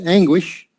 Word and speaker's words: anguish: you haven't seen before one is anguish anguish anguish so that's very similar to agony i think you're almost like two g's anguish anguish anguish yeah